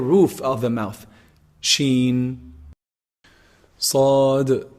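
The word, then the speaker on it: ص: The sad letter is a heavy letter, and it's pronounced actually from the tip of the tongue when it relies or like lies on the what? On the bottom incisors.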